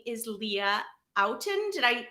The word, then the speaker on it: Leah Outten: which i'm really excited about her name is leah outen did i pronounce that right that's right now perfect and